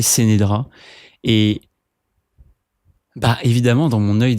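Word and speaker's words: Ce'Nedra: une fille qui s'appelle, j'ai jamais trop su comment prononcer son nom parce que elle était, c'était écrite C-E', N-E-D-R-A, je crois, Sénédra. Moi, j'ai toujours appelé Sénédra.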